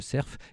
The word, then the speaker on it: cerf: C'est comme ça qu'on prononce, on prononce pas le serf, on prononce le serf.